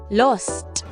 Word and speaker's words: lost: between o and a in British English words like Shar and L are pronounced with an open rounded Sound Shop lost excuse me Mrs I've